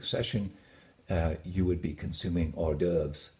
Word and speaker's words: hors d'oeuvres: And if you wore it to an evening drink session, you would be consuming hors d'oeuvres, not hors d'oeuvres.